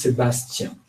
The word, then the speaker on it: Sebastien: Friends call me Seb, Oh, but if you say it full, it's Sebastien. Sebastien. Jen. So don't say it like this. Just say I will. Sebastian.